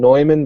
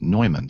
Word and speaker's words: Neumann: quality microphone manufacturer and it's spelled the same way you know we pronounce newman but they pronounce it neumann so that's actually the